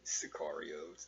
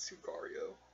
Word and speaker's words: Sicario: oh and or sicario I've been saying it wrong since since I've what movie but it's actually sikarios not su correo Sicario um and then that's